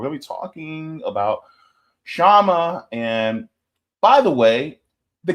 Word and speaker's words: Kshama: So that's one of the reasons why I'm like, it's Kshama, just the K is silent.